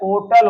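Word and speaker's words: hotel: जो होटल है ब इसका शुद्ध प्रोनंसिएशन जो है ओटल होता है क्या होता है ओटल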